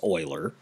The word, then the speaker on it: Euler: last name of euler that's how this is pronounced euler it looks like euler but it's euler and his constant e which stands for euler